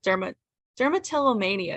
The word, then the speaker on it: dermatillomania: out Eaton, which is about a girl with dermatillomania is how you say it.